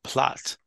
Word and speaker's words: plate: I heard us plot turns out it's spelled plate but pronounced plot do they mean just